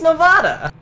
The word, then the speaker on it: Nevada: It's Nevada. Oh, see, you lose. Yeah. That's like how you pronounce that.